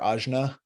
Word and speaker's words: ajna: named AA I mean you could say AA or ajna and probably no one will cry um but the syllable